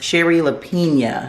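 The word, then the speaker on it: Shari Lapena: her name now and it is Sherry lepia so it's like Sherry and the last name is lepia so miss Sherry lepia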